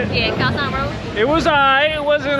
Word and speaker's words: Khao San Road: Yeah, Khao San Road.